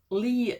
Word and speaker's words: Leigh: the long tomorrow by lay bracket only not it's Lee bracket I've been pronouncing it